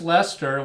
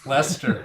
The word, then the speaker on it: Leicester: o okay so just lester we did the c in the middle is silent yeah okay that's that's an easy pronunciation it took carrie a while to get used to it believe me lester all right and that's